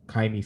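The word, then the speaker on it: Ka'imi: always making field goals kami kaimi fairbairn is how you say his name um cameron johnston i'm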